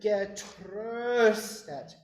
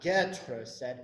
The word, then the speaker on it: getröstet: Getröstet, tröstet. Remember that in German, right? And with this particular word, the stress is on the second syllable. It's not getröstet, it's getröstet.